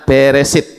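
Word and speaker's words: בראשית: thah itu diawali dengan huruf bet beresit ya Bet Res alef Shin Y Ta membacanya beresit beresit artinya pada mula kemudian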